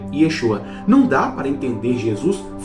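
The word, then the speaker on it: ישוע: Lembrando que em hebraico se pronuncia Yeshua.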